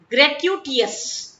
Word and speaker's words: gratuitous: ग्रेट्यूटियस, ये उसका प्रोनाउंसिएशन है.